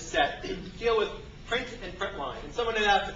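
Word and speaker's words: println: print and this is print Line Print Ln usually pronounce print line so it turns out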